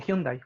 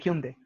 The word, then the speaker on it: Hyundai: cuando por ejemplo o no se dice hyundai se dice hume de entonces este tipo de